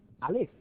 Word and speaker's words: Aleph: Este colegio Aleph, en realidad se pronuncia Aleph, que son las iniciales de Active Learning Philosophy, que de alguna manera